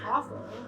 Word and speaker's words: offal: Like it's literally it's pronounced awful, but it's not spelled the way that you would think.